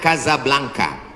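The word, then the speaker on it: Casablanca: Hasan dua di Kota Kasablanka ibukota Maroko tempat saya kuliah nama negaranya Maroko ibukotanya tulisannya casablangca cara bacanya Kadzab langka Kaza artinya rumah Blanca artinya putih Kasablanka rumah warna putih bahasa Arabnya ada rolbok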